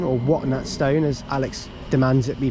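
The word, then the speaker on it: Watton-at-Stone: and we're going to be taking this to water stone or what stone as Alex demands it be pronounced 717 013 this might be like the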